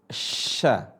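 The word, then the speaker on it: ش: Nah, cara bacanya adalah tengah lisan ketemu langit-langit.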